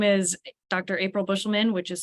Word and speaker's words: Buschelman: Buschelman, yep. Your time starts now. All right, thank you. My name is Dr. April Buschelman, which is spelled APRILBUSCHELMAN.